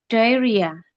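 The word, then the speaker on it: diarrhea: Nah, untuk diare itu bacanya in English we can say diaria.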